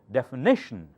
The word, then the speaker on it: definition: that define define he definition knee louder because shun the syllable before shun should have the accent definition this one different